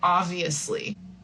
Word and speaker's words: obviously: So this is one that you probably will see is a little difficult because we don't say obviously. We really don't pronounce the B. We say obviously.